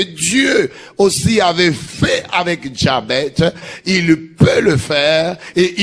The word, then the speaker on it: Jabez: Jabez. Jabez, on les prononce comme ça parce que ça vient de l'hébreu.